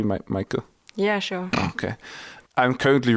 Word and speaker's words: Meike: But Meike, am I pronouncing that correctly, Meike?